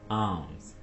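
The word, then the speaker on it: alms: आर्म्स। यहां पे एल को आपने खामोश रखना है, साइलेंट रखना है।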